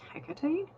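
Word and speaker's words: Hecate: in between her and I think it's pronounced NACA tight the Greek goddess of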